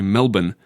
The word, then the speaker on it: Melbourne: pronounce it differently there in Australia we say Melbourne almost like m e- l b i n but I assume in